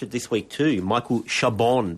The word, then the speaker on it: Chabon: I only finished it this week too, Michael Chabon. But you're saying you don't pronounce the N.